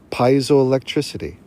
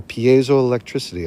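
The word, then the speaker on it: piezoelectricity: creating an effect called piso El electricity or Pio electricity I like to say I like to pronounce it like it I'm Italian or or you know Mexican I doo electricity electric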